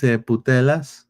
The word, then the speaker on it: Putellas: Alexis Putellas. See, I didn't want to say the other word in Spanish. I know that sounds very similar to that one. Alexis Putellas is not being renewed, or just not renewed yet with Barcelona.